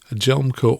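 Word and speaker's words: Hjelmco: that a swedish company a gelmco which is spelled h-j-e-l-m-c-o jelmco has invented unleaded avcas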